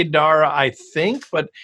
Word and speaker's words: Dara: go by Dar or do you go by Dara it's Dar yeah it's it's an it's an